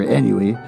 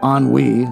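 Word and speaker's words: ennui: go out and uh out of sheer eny uh oh anwe I've learned the right pronunciation for that began a course of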